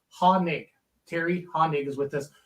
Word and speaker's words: Hoenig: a hanig A hoig or what but it's hanig Harry Hond is with us one of the